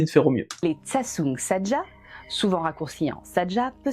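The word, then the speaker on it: 저승사자: ça qu'on a su qu'il fallait pas dire Jeoseung Saja, mais Tsatsung Saja, et encore il paraît qu'on le prononce assez mal, voilà.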